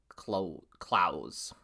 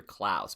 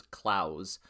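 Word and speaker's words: Claesz: Peter Clos. It's not not I always used to say Peter Claus, but it's Claus.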